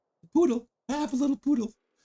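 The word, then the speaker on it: Pudel: And the poodle. That is pronounced exactly like the dog, the poodle. The poodle.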